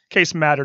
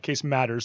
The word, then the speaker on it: Case Matter: It's Case Matter, not Case Matters. So I apologize for giving you the extra S.